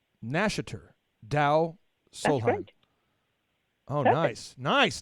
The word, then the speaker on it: Nashater Deu Solheim: It isn't easy to pronounce. It's Nashater Deu Solheim. Nashater Deu Solheim.